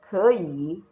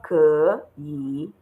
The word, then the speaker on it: 可以: So you will go 可以, not 可以. So you go 可以.